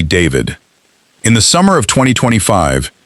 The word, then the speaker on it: D4vd: The world knows him as D4VD, spelled with a four, pronounced simply David.